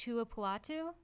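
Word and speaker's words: Tuipulotu: drafted defensive tackle Marlin I believe it's pronounced Tua Patu sounds right from Wow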